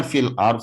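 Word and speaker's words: في الأرض: Terkadang Bapak Ibu encang-cingnya babe, terkadang masih ada yang membacanya hanya ro yang dibaca. Wa yufsiduna fil ar, bunyinya hilang, tidak dibaca.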